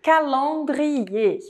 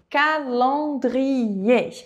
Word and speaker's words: calendrier: gente tem a palavra calendrier Então já reforça essa tua ideia, esse teu aprendizado de fonética de francês. Lembrando que palavras que terminam com ER, esse R não é pronunciado e existe uma tônica